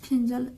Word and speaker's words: Fengal: जिसका नाम क्या है फिजल प्रोनाउंसड एस फिजल और इसका उच्चार प्रोनाउंस मतलब क्या होता उच्चारण फिजल के रूप में भी किया जाता है ओवर और यह चक्रवाती